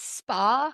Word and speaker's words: Spallino: And then I was just telling Erin before the show, my last name is Spa, like the spa. is how you pronounce it, like orgasm.